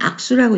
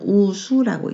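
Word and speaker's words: 幄手: 한자로 각각 읽는다면 악수라고 읽겠죠. 그렇지만 이건 수입품목입니다. 수입품목에서는 우수라고 읽습니다.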